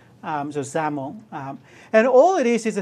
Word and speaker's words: XAML: And it's pronounced XAML. Kind of sounds like you're pronouncing with a Z. So XAML.